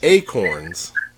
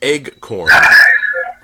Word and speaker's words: acorns: What tree produces acorns? Sometimes pronounced eggcorn. Incorrectly pronounced.